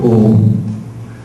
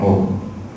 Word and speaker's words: Om: The two major parts, major ways of chanting Om. One is to have a long first syllable, which is A. Start with A, go to U, and end at Im.